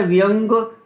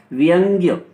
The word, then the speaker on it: व्यंग्य: और ये शब्द है व्यंग बोल जाते हैं इसको, व्यंग अपने व्यवहार में, जबकि ये होता है व्यंग्य। व्यंग्य शब्द होता है शुद्ध उच्चारण के हिसाब से।